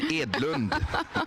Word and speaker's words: Edlund: we don't have time Dr Edlund and pronounce it correctly for all the sweds that are tuning edland my name sorry thank you very much thank